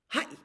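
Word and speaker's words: はい: Hi.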